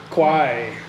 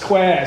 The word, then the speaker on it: Kwai: is on the River Kwai. It's Kwai. So if you go there, Thai people get irritated when the foreigners say Kwai, but it's spelled Kwai. Why don't they spell it Kwai?